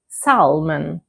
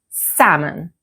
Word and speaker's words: salmon: Many learners say salmon, but the standard pronunciation is with a silent L. So, we say salmon.